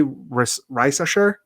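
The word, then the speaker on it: Risacher: I think you say Reisasher is how you say it.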